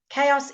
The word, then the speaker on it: chaos: have there we go chaos is is a silent letter I don't know why